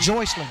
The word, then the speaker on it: Joycelyn: That's is it Joycelyn? Joycelyn. That's the way it's pronounced. Coach spelled it out for me. He says a lot of people mispronounce it, so it is Joycelyn Davis.